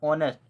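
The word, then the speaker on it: honest: इसमें जो इसका जो उच्चारण होता है वो किससे होता है, ऑनेस्ट, अ से शुरुआत होते हैं।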